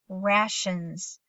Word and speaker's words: rations: lot of sense and if it's an open syllable it should say ray but look at mrs. Heath put a one on the top because in this particular word the a is going to say ah and so go ahead and